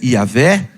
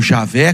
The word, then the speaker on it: Javé: o tagr divino que nós entendemos que deve ser a pronúncia yavé ou Javé como a Bíblia católica traduziu ou Adonai outro nome